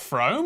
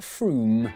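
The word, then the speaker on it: Frome: i don't know we'll see wrong it's not from f-r-o-m-e it should be blitheringly obvious it's pronounced froome yeah look at that i was right don't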